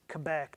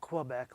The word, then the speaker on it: Quebec: just been taught today it's quebec not quebec like we ohioans pronounce it yeah who knew i